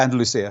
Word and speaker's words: Andalusia: You own recording studio facilities in the UK, Shropshire, how beautiful, and Spain, Andalusia. Am I pronouncing it correctly? Yeah, Andalusia, yeah.